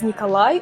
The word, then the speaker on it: Nikolai: it is a really popular name and we pronounce it as Nikolai or for short K Alexi no Alex it's